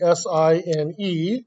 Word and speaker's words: sine: to know is that sin is actually spelled actually s-i-n-e sign and we say it's sine like a stop sign that's what those quotation